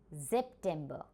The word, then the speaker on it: September: It has the same spelling but we pronounce it differently. It is September.